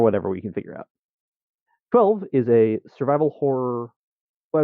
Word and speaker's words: XII: 1200 emails yeah yeah that's how you pronounce it we've had people get confused over is it xii is it 12 is it but it's 12.